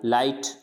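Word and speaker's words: light: लाइट, तो लाइट में भी क्या होता है, जी साइलेंट होता है लाइट।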